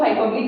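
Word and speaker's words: hyperbole: Fourth one is, pronounce इसको हाइपरबली करते हैं, लिखते इसको हाइपरबोले।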